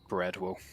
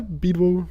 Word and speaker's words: Beedwo: And so Chunky, he has been holding these Aries from as how do you pronounce that name? Breadwo. Is that correct? Yeah, Beedwo, but Beedwo. Beedwo.